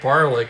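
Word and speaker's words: Barlick: Stan Land is at first, Mel Steiner at second, and Al Barley rhymes with Garlic down at third.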